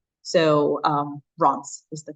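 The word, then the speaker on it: Reims: it's pronounced re Ms um but it's usually pronounced Ron so um Ron is the correct way to pronounce that not memes uh there are a couple of us testing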